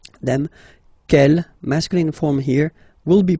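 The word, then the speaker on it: quelle: same way and then the feminine form is written like that q l l but it's pronounced like the masculine form k at the masculine Kell at the feminine okay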